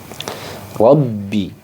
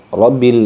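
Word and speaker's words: رَبِّ: kemudian selanjutnya yaitu pada huruf ba yang bertasydid yabibi ini harus ditekan jadi ketika ada tanda tasd maka ditekan membacanya ya ketika ada tanda tasdid harus ditekan mem bacanya Rabbi Robbi tidak boleh rabbil alamin itu kurang nekan alhamdulillahibilbil nah seperti itu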